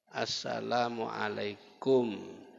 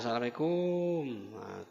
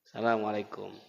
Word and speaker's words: Assalamualaikum: lam lam itu pun Salamualaikum itu banyak salah Pak bacanya kumnya itu pendek Kaf mim mati depapan kum Assalamualaikum yang banyak di tengah lapangan apa Asalamualaikum kumnya panjang yang benar kumnya pendek Asalamualaikum jadi saling harga menghargai